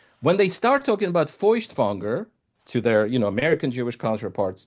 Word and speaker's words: Feuchtwanger: or immigrated to the United States, when they start talking about Feuchtwanger to their, American Jewish counterparts, to Israeli Jews, and the response is, who?